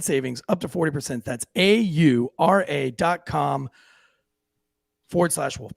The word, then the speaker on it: Aura: listen to candy's pronunciation is it aura it's aura a-u-r-a aura aura not aurora there's no extra o-r oh well i'm embarrassed